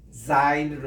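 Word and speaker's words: זין: 요거는 그냥 영어 자체의 Z 마지막 글자 Z입니다. 이게 옛날 영국식 발음으로 Z라고 하지 마시고 Z라고 읽으세요. Z 이 발음이에요. 지브라 할 때 얼룩소 하는 그 발음. 예, 이렇게 해서 중간에서 이렇게 내려오는 게 Zine으로 있습니다. 따라합시다.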